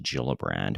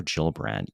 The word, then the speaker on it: Gillibrand: for cardano senator gillibrand i think her name's actually pronounced gillibrand but senator jill brandt even related an anecdote